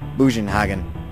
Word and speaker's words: Bugenhagen: I want to pronounce it German-wise, which would be like... it sounds something like Bugenhagen.